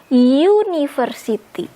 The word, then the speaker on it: university: Tapi dibacanya university. University. Jadi ini justru bukan an, ini justru e. Karena kalau kita mau bilang sebuah universitas atau satu universitas, karena kita bacanya university pakai y konsonan.